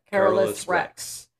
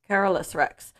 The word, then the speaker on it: Carolus Rex: cover and it is say it wrong Carol Rex I'm like is it is it what it looks like carus Rex carolus Rex so let's just that